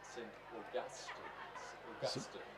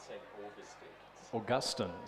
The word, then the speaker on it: St. Augustine's: by Mark McEwen downstairs, who tells me we've been pronouncing it all wrong all along. It's actually St. Augustine's, not St. Augustine's. Augustine's. And he tells me this with great authority because he says it's his second name. And we're pronouncing it, as he put it, the Tommy way. I'm again going to leave that go through to on Gus rather than all.